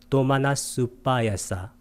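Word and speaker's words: domanassupāyāsa: 이게 아하고 우가 만나면 뒤에 것을 쓰고 앞에 거 안 씁니다. 그래서 어떻게 써요? 도마나사 우빠야사인데 도마나스빠야사 이렇게 발음이 됩니다.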